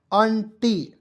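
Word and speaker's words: aunty: देखिए ए यू एन टी वाई तो इसे पढ़ेंगे दोस्तों ंटी नहीं पढ़ेंगे इसे पढ़ेंगे अंटी ठीक है आंटी मीस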